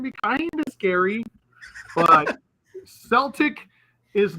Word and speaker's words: Celtic: So it's not a Celtic. It's Celtic is the kind of people that they're talking about.